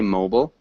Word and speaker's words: mobile: mobile which is good it's um more of the british pronunciation so in the united states would say mobile mobile um yeah and in great britain england they'd say mobile mobile mobile phone um but